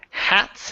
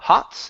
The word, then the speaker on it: hats: go to the word hats instead of ha Hots it's ha hats crickets hats crickets hats